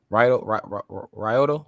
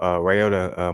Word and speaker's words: Ryota: Is that how you say it? Ryoto? Oh, Ryota Murata.